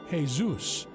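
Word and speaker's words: Jesús: tied to Zeus worship ask any Spanish or latin-speaking person to pronounce the word Jesus and they will say Jes Zeus then ask yourself why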